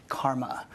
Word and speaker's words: CCRMA: way that Shen to ccrma and is pronounced Karma I direct the Stanford